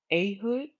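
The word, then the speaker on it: Ehud: 164 after that this means um a deliverer eood the son or his name is pronounced ahood a he's a deliverer okay um he's an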